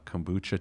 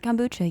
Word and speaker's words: kombucha: off and you have some uh Kucha tea instead I did I pronounce that right kombucha yeah okay then it's